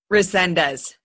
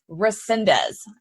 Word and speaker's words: Resendez: Resendez. Resendez.